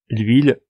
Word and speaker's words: huile: à un h aspiré le mot huile ça fait l'huile c'est un chemin et